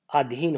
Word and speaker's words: अधीन: और भी होते हैं, जैसे हम आधीन लिखते हैं, बोल भी आधीन देते हैं जबकि वो अधीन होता है।